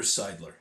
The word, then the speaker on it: Seidler: their first ever World Series title for Peter Seidler. There you go. I said it correctly this time. Sorry for mispronouncing his name the first go around, but